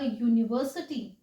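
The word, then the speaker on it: university: यूनिवर्सिटी बोल रहे हैं, क्योंकि यू की साउंड यन की है, यूनिवर्सिटी जो साउंड है वो कॉन्सोनेंट की है।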